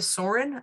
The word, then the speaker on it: Soehren: LinkedIn ID is it's pronounced Soarin like a bird Source or is